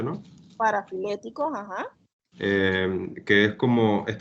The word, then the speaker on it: parafiléticos: Bueno, sí, profe, más o menos entendí lo que explicó de los parafilécticos, así se pronuncia, ¿no? Parafiléticos, ajá.